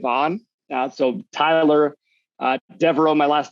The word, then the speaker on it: Deveraux: i'm most interactive on uh so tyler uh devereaux my last name is spelled d-e-v-e-r-a-u-x i'm sure it'll be on the